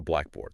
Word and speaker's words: blackboard: So think about a blackboard. Okay. Yeah. The emphasis is on black, not board, right?